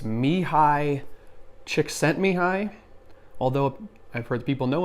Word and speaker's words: Csikszentmihalyi: that I've seen that apparently his name is pronounced even though there's ELLs in there it's me hi Csikszentmihalyi although I've heard people know him go he